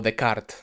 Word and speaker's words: Descartes: también muy filosófica de René Descartes, o Descartes, para los que les guste pronunciarlo de una manera más fina.